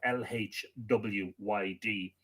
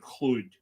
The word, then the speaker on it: Llwyd: Edward, I'm not entirely sure about my pronunciation of Lhwyd, but I'm led to believe it's Edward Llwyd, keeper of the Ashmolean